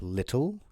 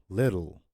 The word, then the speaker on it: little: Rule number 5 is to pronounce double consonant T as a soft D. So for example, the word little, letter, right? So it's not little, it's little.